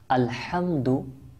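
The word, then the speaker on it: الحمد: মনে রাখবেন মাদ্রাসা দর্শকবৃন্দ আলহামদু এটা প্রথমে যে হা রয়েছে এই হা কে হা যে মাখরাজ রয়েছে সেখান থেকে যদি আমরা উচ্চারণ না করি তাহলে অর্থ চেঞ্জ হয়ে যাওয়ার পরিবর্তন হয়ে যাওয়ার সম্ভাবনা রয়েছে আলহামদুকে আলহামদু বলা যাবে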